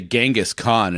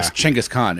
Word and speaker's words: Chinggis Khaan: English and I'm like all right did I pronounce it how I've always heard it so that's funny well it's like people say Genghis Khan is not Genghis changose yeah yeah Chinggis Khaan and it's like and I try to I